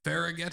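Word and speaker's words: Fargeat: say her name wrong coraly fagette she's French probably said it horribly wrong T probably silent yep perfect John nailed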